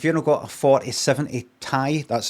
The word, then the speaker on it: Ti: And you could say, but you've got if you don't got a 4070 Tai, that's how you pronounce it.